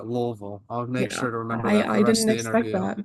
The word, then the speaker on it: Louisville: feel bad about that I went into it saying Louisville and then I was told to say lville all right lville I'll make sure to